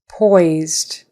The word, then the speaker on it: poised: okay next word poised poised that s is a z poised Poise poised and